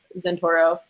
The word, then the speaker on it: Zentouro: science and climate change on my youtube channel Santoro which is spelled Z and tou ro probably if you